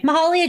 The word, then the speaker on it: Mahalia: Okay, Mahalia Jackson, then I said it right, was a